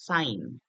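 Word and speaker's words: sine: সাইন এস আই এন ই এটাকে আমরা বলবো সাইন আচ্ছা এরপরে আছে হচ্ছে কোসাইন আচ্ছা তারপরে আছে হচ্ছে এটাকে আমরা উচ্চারণ করবো হচ্ছে কোসাইন আচ্ছা এটাকে আমরা সংক্ষেপে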